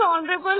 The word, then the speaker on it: honorable: इन the words ऑनरेबल एंड और the consonant H is silent, H silent है दोनों में, और this words begin with a vowel sound.